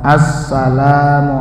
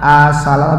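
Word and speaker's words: السلام: Jangan asala. Saya ulang-ulang biar jeli. Bukan asala tapi assalamu alayka ayyuhan. Jangan ayuhan, bukan begitu. Ayyuhan nabiyyu wa rahmatullahi wa barakatuh. Assalamu alayna wa ala ibadillahis sholih.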